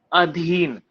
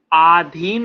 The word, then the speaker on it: अधीन: क्या होता है? अधीन। आधीन नहीं होता है, लोग गलत बोलते हैं आधीन, ये चीज उसके अधीन है, गलत होता है।